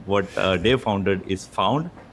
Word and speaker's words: Phound: The company name, what Dave founded, is Phound. It's spelled as Phound. So it sounds similar, but don't get confused for the listeners itself.